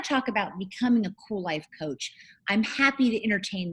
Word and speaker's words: Kuel Life: I'm the CEO and the founder of Kuel Life, and that is spelled with a K. I know it's weird, but it's Kuellife.